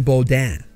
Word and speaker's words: Beaudin: And my name was really, in my family, pronounced Beaudin.